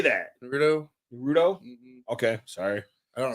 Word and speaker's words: Naruto: Naruto?